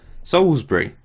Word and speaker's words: Salisbury: I'm not saying Salisbury like someone might pronounce. I'm saying Salisbury. No one's ever questioned my pronunciation, and I'm married to someone who grew up near Salisbury and and I've got family living there. Salisbury. That's how you say it. Souls.